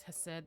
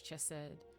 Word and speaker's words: Chesed: There's two different pronunciations for this. There's Hesed, there's Chesed. Both of them.